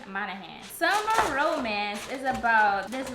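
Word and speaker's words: Monaghan: roadman by Annabelle manahan I was saying her name wrong the whole time I was saying monan but it's on of hand Summer Romance is about this lady and this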